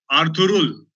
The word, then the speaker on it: Ertuğrul: तो उनकी जबान में जब ये आर्तुरुल है लिखने में आता है तो उसमें जी आता है, लेकिन बोलने में जी जो है वो साइलेंट है, आप बोलते नहीं हो, वो साइलेंट है. तो आप बोलोगे आर्तुरुल.